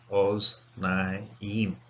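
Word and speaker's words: אָזְנַיִם: It's a closed syllable, so it's kamasatuv, so it has to be an O. Oz naim.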